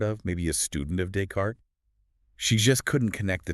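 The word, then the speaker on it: Descartes: And she'd read the name of the famous philosopher Decart. Using English reading rules in her head, she pronounced it, you know, logically as descriptes.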